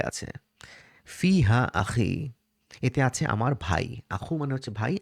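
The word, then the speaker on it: فيه: ইয়াসুকুন থাকে অথবা কাসরা সহ কোন লেটার থাকে তখন এটা হু না হয়ে হি হয় ফি হু না বলে আমরা কিন্তু বাইতুহু বলি কিন্তু ফি হু না বলে ফি হি বলি এটা আরবদের একটা প্রোনাউন্সিয়েশন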